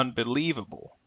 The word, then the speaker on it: unbelievable: an example Le unbelievable even though the primary stress is on Lee in the middle the secondary stress is on the letters u n represented by this particular uh symbol here but notice the schah is used for the last two vowel sounds unbelievable when do we use